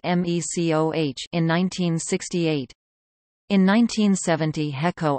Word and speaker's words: MECO: HECO purchased Maui Electric Company, abbreviated MECO and pronounced MECOH, in 1968.